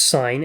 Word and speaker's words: sin: stands first sign or we abbreviate it to si n or sin but it's it's pronounced sine and now she stands